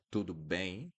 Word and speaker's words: tudo bem: You need to keep it open. Tudo bem? Instead of tudo bem, tudo bem. Don't close it at the end of words when you see the M. Don't pronounce the M like mm.